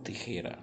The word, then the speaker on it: tijera: eu trouxe a palavra tijera. Hein? Lembra do J? O J tem som de R, ó. Tijera, tijera. E o R aí é igual ao português porque está entre duas vogais.